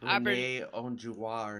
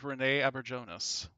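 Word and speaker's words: René Auberjonois: I'm so not going to be able to pronounce his name right because I always confuse it with Renee Onjua or something like No, that. it's Yeah, Renee. but It's Renee Aberjonas.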